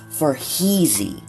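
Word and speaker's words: Farheezy: If you would like to connect with me on social media, my Instagram handle is for Heezy. That is spelled F A R H E E Z Y.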